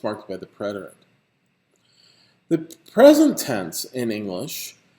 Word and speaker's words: preterite: the preterit which is sometimes spelled with an e and sometimes without but it's always pronounced preterite these are forms in